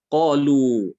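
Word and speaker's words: قالوا: Baik, qalu ya. Qalu di sini dia ditulis alif di situ ya, tapi dia tidak diucapkan. Seakan-akan di situ alif tidak ada ya.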